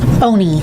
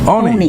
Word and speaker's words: Oney: Oney. Oney. Yeah. All right. Yeah. Like we're only here. Yeah, only here, right.